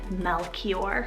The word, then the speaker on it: Melchior: sounding name i have the name melchior spell m-e-l-c-h-i-o-r melchior so the meaning for this one it's